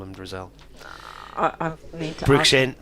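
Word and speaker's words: Drissell: She says, "Drric is pronounced Dristle. I've never heard him called Dristle." So, I'll continue to call him Drizzle.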